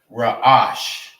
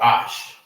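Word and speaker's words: ראש: Head is raash raash.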